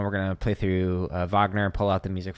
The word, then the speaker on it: Wagner: and he's like oh Vagner is German so it's pronounced Vagner not Wagner here it is go